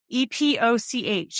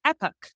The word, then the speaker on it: Epoch: we were like Brendan how would you pronounce e-p-o-c-h and he's in America it's Epic in England it's Epoch and so we chose the